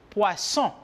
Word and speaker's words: poisson: Le double S, la doble S, se pronuncia como si fuera una S en espagnol. Por lo tanto, je dis poisson.